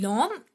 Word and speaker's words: l'homme: L'homme, which would be l'homme est laid. L apostrophe, and we know when we pronounce it, though it is starting with H, but when we pronounce it, that's l'homme, a let.